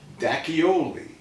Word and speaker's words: D'Acchioli: How do you say your last name? Dacchioli.